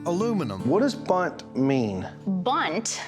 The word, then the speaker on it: Bundt: Bundt, which is spelled B-U-N-D-T, is a registered trademark,